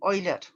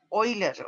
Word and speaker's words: Euler: E, el número de Euler. Ya, y ahí también, bueno, en alemán la pronunciación de EU es Euler, o sea, OI, ya.